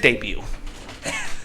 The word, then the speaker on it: debut: I think I meant debut. That's what I meant. I'm not criticizing you. I just never heard anybody actually pronounce the T. It's a silent T.